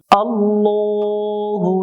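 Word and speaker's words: ٱللَّٰه: আল্লাহ শব্দের ডানে জবর হলে আল্লাহ শব্দের লামকে মোটা করে পড়তে হয়, আর যে অক্ষরটা মোটা করে পড়তে হয় ওই অক্ষরটা জবরে আকার পড়া যায় না, অর্থাৎ এটা ল পড়তে হবে, লা পড়া যাবে না।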